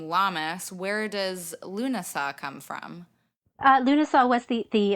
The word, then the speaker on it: Lughnasadh: Where does Loon-uh-sah come from?